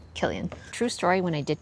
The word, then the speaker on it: Cillian: And when I just saw this name, Cillian, I just thought it was so pretty with the C, even though it's pronounced with a hard C sound, Cillian.